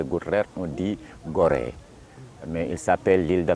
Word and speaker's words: Gorée: Les Portugais, on a premier découvert l'île de Gorée, un navigateur qui s'appelle Denis Diaz.